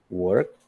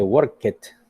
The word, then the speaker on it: worked: if you see, is worked. No se dice worked, but we say worked como si fuera una T, a veces como si fuera una D, dependiendo de la última letra del verbo, ¿ok?